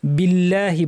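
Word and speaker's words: بِاللّٰهِ: শব্দের লাম ভারী হয় কিন্তু যদি আগে জের থাকে যেমন এখানে বা জের বি আছে তাহলে পাতলা হবে বিল্লাহি বলতে হবে বিল্লাহি নয় মিনাশ শিনকে জিহ্বার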